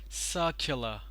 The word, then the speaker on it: circular: The same thing over here. Circular. Circle, circular. Care and not Q.